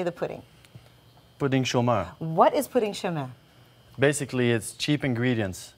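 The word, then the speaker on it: pouding chômeur: Pudding chômeur.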